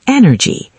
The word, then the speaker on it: energy: The third word is energy. Energy. 3 syllables. Stress on the first.